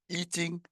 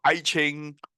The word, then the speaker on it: Yijing: Yijing is spelled this way, Y-I-J-I-N-G. And it is using Hanyu Pinyin. The old way is called Aiching or Yijing, and some will even call it Book of Changes.